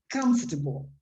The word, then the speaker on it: comfortable: let me write it this is one of these long words that you have to shorten when pronouncing it so it's comfortable remember that did you watch the video yes yes like catholic like chocolate it's always on the first syllable so comfortable that means